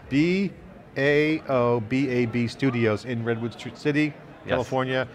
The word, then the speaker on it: Baobab: Baobab. B-A-O-B-A-B Studios in Redwood City, California.